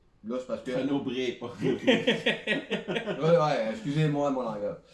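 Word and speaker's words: Renaud-Bray: en tant que tel, le prix du livre, c'est Renaud Brick. Là, c'est parce que. Renaud Bré, pas Ouais, excusez-moi mon langage. La prononciation.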